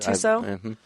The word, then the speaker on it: Tissot: Well, I was like, Brooke got a new Tissot watch. Is that how you say it, Tissot?